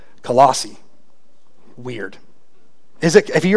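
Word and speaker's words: Colossae: the church in colossi I always thought it was colisee but I did a lot of pronunciations online and they all said colossi weird is it if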